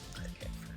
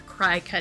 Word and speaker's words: Cricut: might have tried it Cricut first. Or Cricut, excuse me. I think it should be pronounced Cricut, but it isn't.